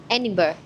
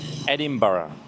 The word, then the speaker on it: Edinburgh: Edinburgh. Ending Castle. What? Ending Castle. Edinburgh.